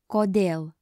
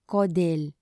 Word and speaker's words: kodėl: Kodėl means why. Incorrect way to pronounce this is kodėl. And the correct way is kodėl.